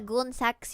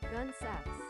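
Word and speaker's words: Gunne Sax: I don't think it's goon sack. Gunesa? Gunesa? Let's see, Google. How to pronounce Gunesa. Gun sacks. Gun sacks.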